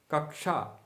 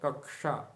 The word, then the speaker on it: कक्षा: क्ष आधा क हलंत क और मूर्धन्य श के मेल से बना है।